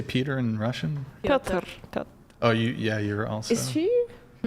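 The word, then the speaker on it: Пётр: Piotr.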